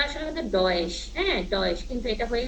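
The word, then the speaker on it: Deutsch: তারপরে যেমন এটা আছে, এটা আছে সজ, ঠিক আছে, কিন্তু এখন দেখেন এটা উচ্চারণটা আসলে কিন্তু ডয়েশ, হ্যাঁ ডয়েশ, কিন্তু এটা হয়ে গেছে কি চ, কারণ ওরা বাংলাটার সাথে ডয়েশের যে মেন উচ্চারণটা সেটার সাথে মিলে না।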